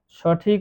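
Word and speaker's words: ث: বা তারপরে আছে তা সা এই পরপর তিনটি অক্ষর এক আলিফ পরিমাণ টান দিয়ে পড়তে হবে।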